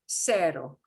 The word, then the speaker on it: cero: And now we're going to switch to the s sound of an S, okay? I will start with cero.